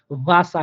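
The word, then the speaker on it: Wasser: দেখেন এর আগে বাওয়েল বিশেষ করে ই আছে, তাহলে এই ই আর এর উচ্চারণটা কি হয়ে যাবে? বাংলা আয়ের মতো হয়ে যাবে। এই জন্য এখানে ভাষা হয়েছে, অর্থাৎ আকারের মতো করে উচ্চারণ হয়েছে, ভাষা, আরটা উজ্জ হয়ে যাবে।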